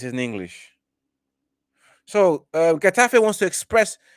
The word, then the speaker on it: Getafe: I want to pronounce it right. Getafe. CF. Likewise, I think it's a Sanji. Getafe. Getafe. Like you're sneezing.